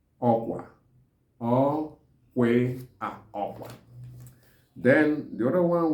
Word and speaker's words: okwa: So in Igbo, it's called okwa. Okwa.